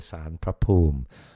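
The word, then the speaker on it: ศาลพระภูมิ: And the U in pum is a long U like a double O and there's no P H.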